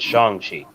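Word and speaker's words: Shang-Chi: no no like in the movie they they pronounce it shang chi like they said it in the in the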